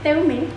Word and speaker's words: Teume: itu Ini buat kalian ini bacanya teume teume nah buat para teume